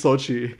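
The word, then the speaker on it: Xochitl: it off there okay it's sochi that certain things aren't pronounced so sochi gomez has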